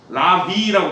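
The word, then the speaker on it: larvae: 요게 라바가 원래 요렇게 라바 요게 이제 유충인데 복수형이 e를 붙여요. 라비라고 발음해 이러면 이건 라바 이거는 라비.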